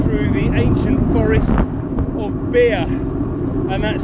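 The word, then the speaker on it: Bere: So at the moment, I'm riding through the ancient forest of Beer. And that's spelled B-E-R-E, and it's not actually anything to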